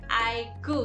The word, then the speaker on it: iQOO: soft brand dari Vivo dibacanya iku ya Nah iku ini lebih